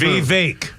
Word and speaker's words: Vivek: Just say it one time and let's keep Vivek. Okay, that's how we'll pronounce it from now on. Well, Vivek. I heard him say it. V as in victory, and every single Vivek time. as in cake.